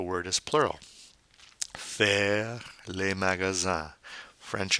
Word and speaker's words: magasins: Then we have faire les magasins. Now notice the INS, the nasal sound. The S is silent.